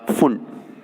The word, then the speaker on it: Pfund: Now come to next series, that is फुंड, फुंड। ठीक है ना, PFUND, P साइलेंट, फुंड सीरीज।